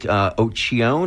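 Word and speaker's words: Occhicone: And now we've got Dominic Occhione, I believe is how you pronounce his name, who is 80 years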